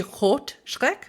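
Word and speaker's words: Rötschreck: That's how Well, you actually, I have no, because it should be Rot Schreck, which means red fear, but it's spelled with an umlaut, so it would be Rut Schreck, which doesn't mean red fear.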